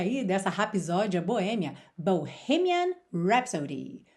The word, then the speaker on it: Bohemian Rhapsody: E atenção à pronúncia aí dessa rapsódia boêmia, Bohemian Rhapsody. Bohemian Rhapsody.